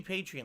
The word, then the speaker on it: Patreon: or patreon or patreon everyone pronounces it differently it should be patreon like you're a patron of the artist because it's too much